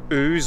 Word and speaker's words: Ouse: and it's called well i think it's pronounced ooze or house valley viaduct and it's